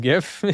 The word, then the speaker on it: GIF: Thank you for knowing that it's pronounced GIF.